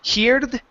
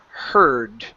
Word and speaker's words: heard: first word uh pronunciation instead of saying heared okay it's heard okay yeah so I heard instead of I hear the other day I heard okay just like you're saying her okay all right now